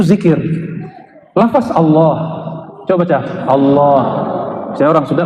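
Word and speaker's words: الله: Coba baca Allah. Saya orang sudah bacanya Allah. Ya, itu bukan dia lam ketemu lam. Allah harus disambung, bukan mati dia.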